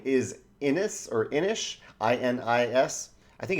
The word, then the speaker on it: Inis: My number 9 is Inish, I-N-I-S. I think it's Inish. I think that's the correct way to pronounce it.